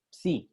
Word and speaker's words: psi: Ah, no es phi, no, es esta, psi, es psi, así se pronuncia, psi.